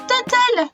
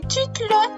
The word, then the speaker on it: Tuttle: je m'appelle comme ça ça se prononce total pour les personnes du genre bilingue et tu te lot pour les non bilingues et comme vous pouvez